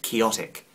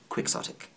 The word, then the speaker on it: quixotic: lot of people think that the word is pronounced chaotic but because the English language is nuts and has no rules it's not pronounced chaotic it's pronounced quixotic take a gorgeous example of the inconsistencies of